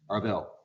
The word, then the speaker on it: Arval: Arval, last name is Arval. A-R-V-A-L. Arvel.